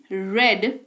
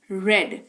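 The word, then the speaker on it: read: पढ़ना रीड रेड रेड, ये एकदम अलग है। स्पेलिंग तीनों की सेम, उच्चारण के वजह से ये डिसाइड होता है कि V2 में कि V3 में कि V1 में, ठीक है।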